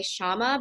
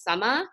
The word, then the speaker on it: Shama: tes Summa so in India like the SH sound doesn't really exist so like my my name like when I'm speaking to people in America I say Shama but the way that my parents pronounce my name is Summa so it's like the syllables are a little bit different the way the vowels